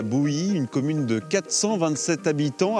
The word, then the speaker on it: Bouhy: D'ailleurs, on dit Bouilly ou Bouilly? Oui. Bouilly, ça c'est la bonne prononciation Oui.